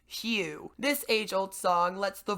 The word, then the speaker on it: HU: Simply sit or lie in a quiet place and sing "You," pronounced like "Hugh."